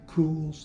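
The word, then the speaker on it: Kühl: I had the Cools, that's spelled K-U-H-L, long pants, and like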